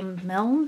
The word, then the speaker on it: Milne: Milne?